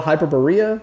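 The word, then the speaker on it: Hyperborea: the game is called hyper Berea I believe is how you say it we always call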